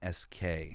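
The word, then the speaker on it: Gdańsk: There's this short called I don't know if you pronounce the G. It's Gdansk.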